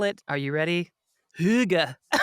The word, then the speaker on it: hygge: h y g g e I'm the worst pronouncer just sound it out h y g g yeah higgy yeah like higgy higgy right or like haga no the Danes call it are you ready Huga H exactly Huga Huga and what exactly and